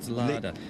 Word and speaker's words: Leidekerke: I got some pronunciation lessons, and it's not Leider, it's Lada. It's Lara de Leidekerke-Meyer. Okay, well done.